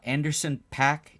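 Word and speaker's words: Anderson .Paak: July although oddly uh Anderson pack is that how you say his name yes he has a chest tattoo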